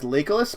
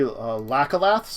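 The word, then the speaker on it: Locathah: I call these guys Lakeless, but they're really Lacalaths or something. Mm-hmm. Are really what they're supposed to be, but I pronounce these guys wrong.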